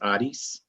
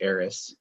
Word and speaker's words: Aris: with out of Greece technically it's pronounced Odis you know we do sort of the Americanized arys it's another form of